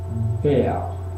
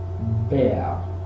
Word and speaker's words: Bär: va antecediendo una R, esa R en posición final se vocaliza y se pronuncia como si fuese una A o algo similar.